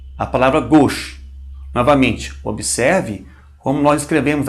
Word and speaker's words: gauche: A U é um som muito fácil, pronuncia-se como O. Um O fechado, né? O.